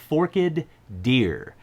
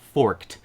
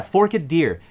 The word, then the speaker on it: Forked Deer: the classic fiddle tune forkid deer and yes that is exactly how you pronounce it not forked that doesn't quite roll off the tongue as well does it um but yeah fork a deer a great standard tune